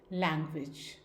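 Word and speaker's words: language: Next एक और word है लैंग्वेज। लैंग्वेज में जो फर्स्ट जी है, LANG जी है, that will be pronounced as ग। लेकिन जो सेकंड जी है वो प्रोनाउंस किया जाएगा एज जे साउंड, लैंग्वेज।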